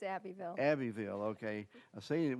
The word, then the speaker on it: Abbeville: She's a native of, is that Abbeville or Abbeville? It's Abbeville.